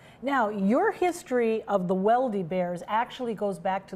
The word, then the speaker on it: Weldy: Now, your history of the Weldy Bears actually goes back to the early 1920s. Yes. And they ended up in Hollywood. That's right. My husband's grandfather, Johnny Johnson Weldy, actually pronounced Velda in Norway, came from Norway with